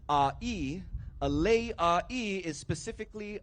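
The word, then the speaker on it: ʻāʻī: But because your neck in Olelo, Hawaii is pronounced as a'i, a lei a'i is specifically a lei that will go around your neck.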